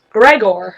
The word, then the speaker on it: Grigor: he was great sorry apparently in Greece eyes sound like ease so Grigor is actually pronounced Gregor did you know Niobe